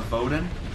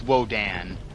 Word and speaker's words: Wodan: It's Wodan. Well, W-O-D-A-N, after the Rus pronunciation of Odin.